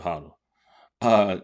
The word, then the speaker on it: Hodel: And I've been saying it wrong. It's not Hodel. It's Mr. Hodel.